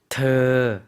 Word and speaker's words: เธอ: ธอ, 네. 의와 어의 중간 발음 더라는 것 기억해 주시면 좋을 것 같습니다.